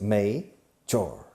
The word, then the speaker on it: major: Now, major, la pronunciación, major, se escribe major, pero se pronuncia May, como el mes de mayo en inglés, major. Okay?